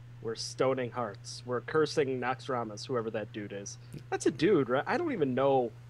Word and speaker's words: Naxxramas: We're cursing Naxxramas, whoever that dude is.